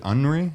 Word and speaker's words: Aunry: Is it Aunry? Is that how you pronounce it? It's like Henri, like French, like Henri.